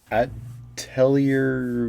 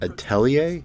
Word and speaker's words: Atelier: To the newest entry in the Atelier series, featuring a brand new Atelier? Okay, that's what it's pronounced. Let's see some more headlines.